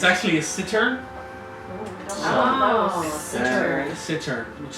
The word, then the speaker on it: cittern: Sitar? It's a cittern.